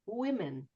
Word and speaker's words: women: Uh, also the I, which is interesting, can be spelled not just with an I, but it can be spelled with an O, like in women. Why would an O sound like an I? But it does.